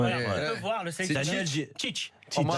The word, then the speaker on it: Tite: Alors, je ne sais pas si on le prononce comme ça en France, Tite. En France, on dit cheat.